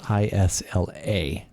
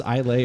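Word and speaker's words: Islay: word that is spelled i-s-l-a yeah is how it looks to us but it's pronounced isla oh i don't want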